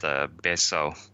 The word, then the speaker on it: Betio: The capital area of Tarawa is spelled Betio, but it's pronounced Beso.